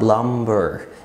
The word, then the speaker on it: plumber: مفيش حاجه في الانجليش اسمها climb اسمها climb، مفيش حاجه اسمها متسلق climber اسمها climber، مفيش حاجه اسمها plumber اسمها plumber، وهكذا.